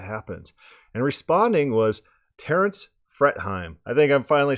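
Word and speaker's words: Fretheim: and responding was Terence fret hime I think I'm finally saying that right I always say I'm fret hime I usually say something like free theam and everyone's like well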